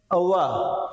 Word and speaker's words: overawed: अब आप इसमें देखें औ की ध्वनि आ रही है, ये जो ओ है इसकी ध्वनि आ रही है औ।